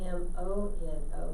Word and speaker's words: mono: If you do M-O-N-O, you have monkey. So if you don't pronounce it right, you're telling somebody to get your monkey off of me instead of get your hands off of me.